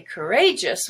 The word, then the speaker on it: courageous: and then edge courage now if you say courageous which is an adjective the a now is no longer schwa but gray courageous the word inflamed is